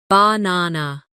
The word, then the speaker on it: banana: For example, in the word banana, the stress is on the second syllable, banana.